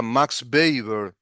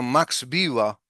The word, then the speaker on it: Max Weber: Max B le dicen los que anglofilan las cosas, ¿no? Desde lo anglófilo sería Max Baber, pero no es alemán, sería Max Viva.